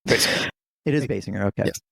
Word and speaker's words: Basinger: I don't know how you pronounce her name. Basinger.